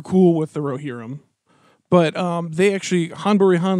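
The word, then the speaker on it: Ghân-buri-Ghân: Han Buri Han, which is spelled with a G, apparently. G-H-A-N. Buri, G-H-A-N. Yeah, it's Han Buri Han.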